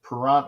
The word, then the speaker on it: Perrant: It's Perrant like parent.